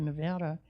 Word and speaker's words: Nevada: It's spelled the same way as Nevada, but they call it Nevada.